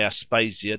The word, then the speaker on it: Aspasia: "Oh, fie, Aspasia, don't! Oh, don't be naughty!" It is true that the names were pronounced Socrati, Aspasi, that is, according to accent, and not according to quantity, but I suppose it